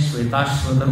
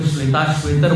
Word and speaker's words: श्वेताश्वतर: कई लोग इसको श्वेताश्वेतर बोल देते हैं। हाँ, इसका है श्वेत अश्वतर, दोनों की संधि हुई है तो बना है श्वेताश्वतर। ठीक है, बोलिए जरा। हाँ, श्वेताश्वतर।